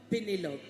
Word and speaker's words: Pénélope: Pénélope.